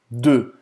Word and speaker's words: deux: Você não vai pronunciar nem o U nem o X. É porque, na verdade, o E, U, E, E, E. Exatamente. Então faz a boca do O e fala E. E, E.